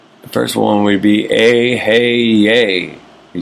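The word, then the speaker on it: אהיה: Vibrate the Hebrew God name, Eheih, pronounced Ehyeh.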